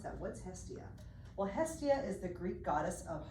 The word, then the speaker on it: Hestia: called Hestia and everyone's like how do you pronounce that what's Hestia well Hestia is the Greek goddess of Hearth home and